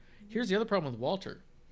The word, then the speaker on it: Walter: the other problem with walter it's pronounced vaulter but no one does it so he already